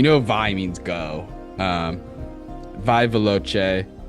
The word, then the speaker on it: veloce: "Vai veloce" is how I'm choosing to pronounce that CE at the end of that word. It is how it's supposed to be said.